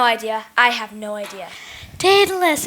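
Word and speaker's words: Daedalus: Pegasus rhymes with Pegasus. No idea. I have no idea. Datalus.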